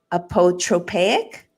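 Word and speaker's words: apotropaic: into the theme of i don't know if i'm going to say it right lindsay a poetropic yeah you nailed it and so apoetropaic is warding off evil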